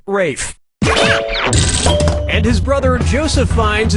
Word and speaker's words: Ralph: - yeah ray finds first name is spelled like Ralph but pronounced Rafe and his brother Joseph